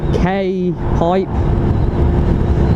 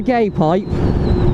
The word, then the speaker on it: K-Pipe: an it's a k like k for kilo okay dash pipe not a gay pipe right it's not an it's a k-pipe right and sorry my